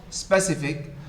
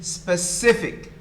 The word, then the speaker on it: specific: this i am glad so please it is the second syllable it is not specific it is specific specific the second syllable is the one is stressed uh by the way